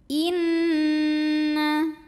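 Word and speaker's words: إنَّ: Inna. Ada hukum gunnah musyaddadah karena nunnya bertasydid. Cara bacanya dengung. Bunyi n-nya tahan sampai ada getaran halus ke hidung kurang lebih 2 harokat.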